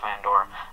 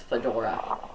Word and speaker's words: fedora: He looked a lot better after that Fandora. And now whenever I see him in other games, I'm like, come on, give him the Fandora. It's pronounced Fedora.